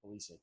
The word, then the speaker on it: Pulisic: no, you've been saying it right, Pulisic. I called him Oh, Pulisic.